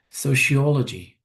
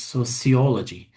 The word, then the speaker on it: sociology: Sociology. This word you can also pronounce as sociology. Is taken from society. Okay, so both are okay.